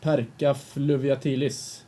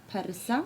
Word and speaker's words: Perca fluviatilis: I think it's pronounced Perca fluviatilis. Okay, do you Yes. guys think that too? Or is it persa? We on the academy we Yes. were talking about it, and some said persa fluviatilis, and some said perca,